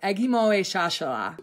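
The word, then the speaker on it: Ekgmowechashala: but I have been taught that it is pronounced Agimoe Shashala.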